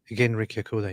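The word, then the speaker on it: Genrikh Yagoda: How you pronounce the name? Genrik Yagoda? Genrik Yagoda, yeah.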